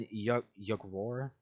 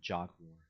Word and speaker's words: Yugor: And Yugor, I'm gonna pronounce it Yugor because that's cooler than Jogwar.